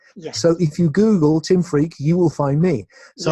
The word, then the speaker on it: Freke: I have a very strange name, which is an old English name, pronounced Freke, but written Freke. Yes. So if you Google Tim Freke, you will find me.